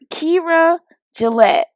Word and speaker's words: Keira Gillett: And so we know now it's Keira Gillett.